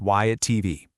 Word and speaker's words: WhyItTV: This is why at TV, and yep, it's pronounced Y at TV.